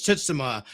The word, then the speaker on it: Tsushima: That's how it was pronounced. Actually, it's Tsushima.